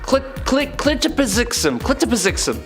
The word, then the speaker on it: Mxyzptlk: Clitopizixum.